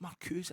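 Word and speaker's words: Marcuse: It's Marcus.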